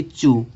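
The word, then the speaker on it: chew: इसको च्यू नहीं पढ़ेंगे, इसको हम च्यू नहीं पढ़ेंगे, इस तरह से इसको च्यू नहीं पढ़ेंगे, ये गलत है, इसको हम चू पढ़ेंगे।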